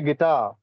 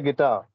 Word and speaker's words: guitar: Ikkada ee R anedi silent.